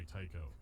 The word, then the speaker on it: Tycho: Skeletor, Tycho is here same and type of actively speech devouring the other patterns. AI. Someone's after you personally. 1 word, 2 syllables rhymes with psycho.